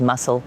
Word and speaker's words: MSSL: has envisioned to become the mssl or pronounced as muscle leader mssl stands for